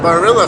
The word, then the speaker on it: Barilla: There's a a Barilla factory. That's how you pronounce it.